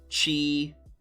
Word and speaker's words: Qi: So Qigong, just in case you were wondering, QI is pronounced Qi. Qi in the anglicized way.